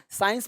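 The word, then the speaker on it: science: कहाँ, बोलो मेरे साथ, साइंस मतलब विज्ञान। साइंस में सी क्या है, साइलेंट है, साइंस मतलब विज्ञान।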